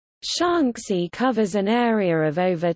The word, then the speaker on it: Shaanxi: Shaanxi, Chinese, Shanxi Pinyin, Shanxi, Mandarin pronunciation, An, E, listen, alternately Shenzi, is a landlocked province of the People's Republic of China.